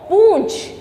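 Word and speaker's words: पूँछ: जैसे कि अनुस्वार में क्या हुआ, नाक में बोला, लेकिन जब हम अनुनासिक का प्रयोग करते हैं तो हमारे नाक और मुंह से क्या निकलती, हवा निकलती है, और कैसे उसका उच्चारण होता है, पूंछ।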